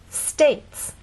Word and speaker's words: states: States. How many vowel sounds? One. A. This word reminds you that sometimes you may see a vowel, but it's silent. E is often a silent vow.